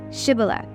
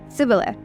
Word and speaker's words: Shibboleth: If he said no, then they would say to him, "Say now, Shibboleth." But he said, "Sibboleth," for he could not pronounce it correctly.